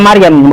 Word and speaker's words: Maryam: Isa pakainya Maryam, bukan Miriam.